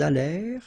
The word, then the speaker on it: allèrent: Ils allèrent, liaison, elles allèrent. And then this ENT at the end, you know, the mark for the plural, well, clearly you don't pronounce it, so you get allèrent.